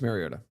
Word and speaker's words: Mariota: And I'm wondering if he said it and he's like, guys, it's Finally really said pronounced it Mariota. after 10 Something like years that.